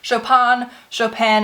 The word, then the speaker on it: Chopin: Now, I've heard Chopin, and then the N also not pronounced, so you let me know which one it is.